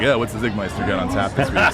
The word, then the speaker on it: Czigmeister: Zigmeister. Pronounce Zig was spelled with a C to start, so don't screw that up when trying to search him out.